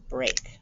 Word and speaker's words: break: a break okay so this e a is a digraph one sound this time that e is silent and the a says its name and that's a little tricky because this also looks like you could say break freak but this is br eight breaks number seven steak my